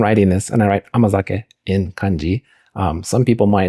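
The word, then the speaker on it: 甘酒: they're not familiar with this word, it is pronounced amazake.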